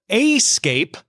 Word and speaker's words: Aescape: A company called Aescape, that's spelled AESCAPE, will install its robotic massage arm tables at 60 Equinox gym locations.